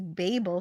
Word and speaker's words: Babel: Ariba Bell says it's not Babel Fish, it's Babel Fish. But Babel Fish is funnier. Both pronunciations are valid for Babel. Babel are both correct, according to the pronunciation website I found.